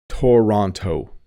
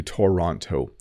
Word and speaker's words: Toronto: is an interesting one if you don't know how to pronounce this you might might say Toronto I I'm going to go to Toronto but we actually say Toronto Toronto Toronto so you notice that the second T does have a D sound Toronto